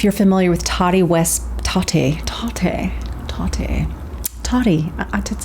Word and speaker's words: Tati: familiar with tari west tati tate tate toddy it's like tati i think she likes tati not toddy like t-o-d-d-y it's not like she's